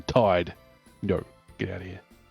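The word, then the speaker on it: Tidus: Like, it's an ocean-themed game, and his name has T-I-D in it, and you're telling me it's pronounced Teed rather than Tide.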